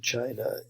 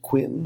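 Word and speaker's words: Qin: that's pronounced chin okay I know it looks like Quinn or kin or whatever but it's it's pronounced Chin Dynasty and this is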